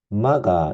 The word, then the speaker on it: MAGA: 위대하게 만들자 박자를 따서 maga 마가 이렇게 발음이 되죠 그런데 이 슬로건은인 브라이전